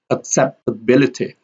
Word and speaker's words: acceptability: Also here we have accept. Here, accept here it has a secondary stress and ability, acceptability. Up here is not stress and accept here has a secondary stress and we have ability here has the loudest stress or the strongest stress.